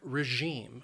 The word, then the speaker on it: regime: a system of government the word has two syllables and the stress is on that second syllable regime and that that second syllable notice it has that long e sound regime regime and then we have the